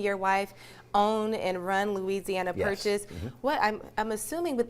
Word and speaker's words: Luzianna: We don't spell it Louisiana. It's Louisiana with a U-Z, phonetically sounded.